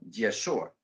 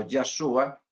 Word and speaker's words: Yeshua: a otros dicen yasua Nosotros hemos adoptado la pronunciación yeshua basado Pues yo lo he hecho al menos